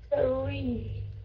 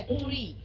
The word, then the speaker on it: three: Không phải là tree, không phải là tree. Không phải là tree này, okay? Mà là three, three, three, three, three.